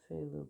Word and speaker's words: phthalo: Considering you just pronounce it as if it is like a normal F. Just a F. Just nothing fancy, just a F. Yet they went PHTH, I think.